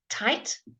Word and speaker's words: tight: be really useful anyway tight tight again the gh is silent but it changes the letter the vowel before tight tall he is